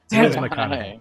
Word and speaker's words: McConaughey: it it's mcconaughey right i'm saying it right mcconaughey yeah yeah i like matthew it's just it